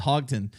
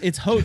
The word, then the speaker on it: Houghton: asked him and he he tells me it's Hodgdon but I know for a fact that's not